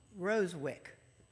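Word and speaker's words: Rozewicz: and i'm going to tell you how to pronounce it rosewick who would have guessed i just thought i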